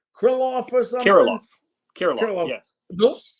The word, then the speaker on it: Kirilloff: I think it's pronounced Krylov or something. Kirilloff, yes.